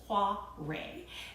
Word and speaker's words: Kvarøy: And if you're wondering how in the world you spell that Kvarøy word, it's just like I'm saying, it's Kvarøy.